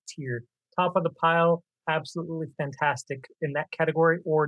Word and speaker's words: abxylute: And yes, that's how you say it. ABXYLUTE is Absolute.